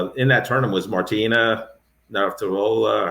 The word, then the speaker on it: Navratilova: But it was, in that tournament was Martina Navratilova. How do you pronounce her last name? Yeah, Navratilova.